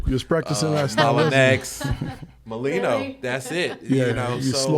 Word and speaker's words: Mollineaux: it's he's the man you know kavel uh molino molino thank you got it right i appreciate